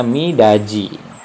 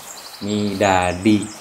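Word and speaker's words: 미닫이: Sekarang yang kedua, nah ini ada midaji, dat. Nah kalau begini midat, tapi karena ada i maka diget ini seorang menjadi j ya. Jadi cara bacanya itu mi da ji ya, bukan midadi. Kalau midadi itu salah.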